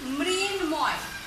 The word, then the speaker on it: মৃন্ময়: এরপরে আরো উদাহরণ দিতে পারি, মৃন্ময়। মৃন্ময়, মৃন্ময়, ময়ের উচ্চারণটা হচ্ছে মৃন্ময়।